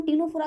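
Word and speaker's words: Ctenophora: फॉर टीनोफोरा, ठीक है, क्योंकि इंग्लिश में हम टीनोफोरा की स्पेलिंग जो होती है वो इस प्रकार की होती है, टीनोफोरा, सी जो होता है वो साइलेंट होता है, ठीक है।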